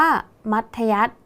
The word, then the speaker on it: มัธยัสถ์: ๆ นะ คะ ว่า มี ธ ธง เป็น ตัว สะกด แต่ ออก เสียง พยัญชนะ ท้าย เหมือน ด เด็ก ใช่ ไหม คะ ดัง